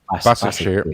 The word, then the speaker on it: Başakşehir: Başakşehir.